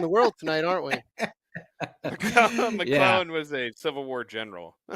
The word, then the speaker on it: McClellan: The C is small, so you always want to say Mick, but it's McClellan, not Mick, not McLennan.